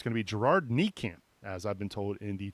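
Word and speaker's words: Nijkamp: Reuter from the athletic it's gonna be Gerard knee camp as I've been told indeed chatroom yeah I saw that also that apparently the correct pronunciation is knee camps so I will definitely make note of that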